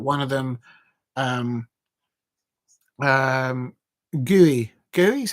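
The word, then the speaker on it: Gueye: Uh Tony Harrington is the referee today and he's deemed that one of them um um Gooey Gooey is how you pronounce.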